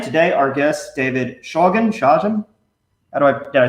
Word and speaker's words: Shawgen: Shawgen?